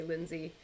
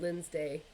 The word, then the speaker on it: Lindsay: when I was traveling it's the mispronunciation of my name so that's how people would say my name couldn't say Lindsay so I'd get Lynn's day and that's where that